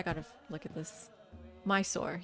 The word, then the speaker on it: Mysore: Mysore. Yeah. My soul. Was that just British? If you're British, you say my soul.